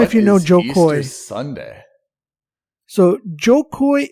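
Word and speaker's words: Jo Koy: His name is spelled Jokoy. That's right, Joe Coy.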